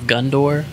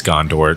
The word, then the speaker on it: Gondor: this the word of gundor that's not mine is that Gondor is it Gondor it's Gondor Jimmy don't ever mispronounce that again hey oh my bad